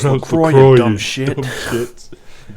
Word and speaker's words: LaCroix: It's pronounced LaCroix, you dumb shit.